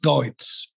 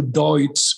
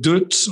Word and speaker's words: Deutz: The second, they changed the brand from Ellis Chalmers into Deutz, which in America they used to call it Dütz or something like that, because it's a difficult word to pronounce in English.